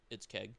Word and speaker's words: KXG: I don't know why his name is KXG, but it's Keg. Yeah, it's pronounced Keg.